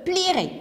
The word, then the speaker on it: publierai: exemple je lirai je publierai ici nous avons le e on n'entend pas mais où je dois l'écrire nous avons aussi tu